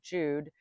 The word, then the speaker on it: Jude: The German J always pronounced like the English Y in yes youth and yacht when it is the first letter of a word. The pronunciation of J and German Jude is not an exception